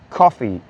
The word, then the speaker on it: Ko-fi: The platform to help us out is called Coffee, but it's spelled Ko-Fi.